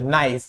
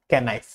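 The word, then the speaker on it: knife: এন এর আগে অথবা ওয়ার্ডের শুরুতে কে থাকলে এন কে সাইলেন্ট হয়, নাইফ, নলেজ, নট ক্যানলেজ বা নট ক্যানাইফ।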